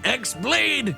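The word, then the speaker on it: χ-blade: yeah it means the x-blade it's just pronounced like keyblade even though it's just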